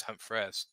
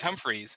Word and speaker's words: Humphres: mean, well, my last name is Humphres. I see lots of people pronounce Humphreys Humphreys. yeah, Humphreys. but it's Humphreys. It's just spelled completely different.